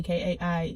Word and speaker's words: Kai: Oh yeah, my name is pronounced K, by the way. K-A-I is pronounced K. It's just like rain. You don't call rain Rhine. I understand that some people go by K-A-I and it's pronounced Kai, but over here it's not. It's K.